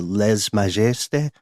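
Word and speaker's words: lèse-majesté: French pronunciation here, the lèse majesté or lèse majesté. The rights of the king. Guessing for a silent S there, but that's my only critique.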